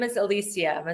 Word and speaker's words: Elysia: illustrious amazing background am I your name is Alisia am I saying it right yes you sure